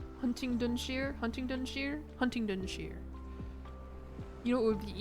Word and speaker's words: Huntingdonshire: The last bit is pronounced Dunshire. Huntingdonshire?